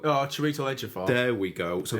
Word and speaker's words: Chiwetel: Do you know how to pronounce it? Chiwetel. Oh, Chiwetel Ejiofor.